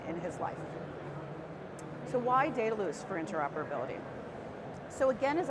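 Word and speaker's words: Dedalus: loose and the reason the easy way to remember it is that we set your data loose we are also one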